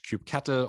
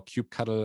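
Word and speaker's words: kubectl: how do you leverage cube cattle or cube cuddle as a whatever way you prefer to pronounce it and then more in-depth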